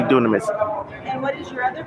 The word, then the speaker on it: Dunamis: um check me out d-u-n-a-m-i-s is greek for power so it's power carpet cleaning dunamis copper cleaning a lot of people pronounce it as dynamics but it's actually dunamis and what is your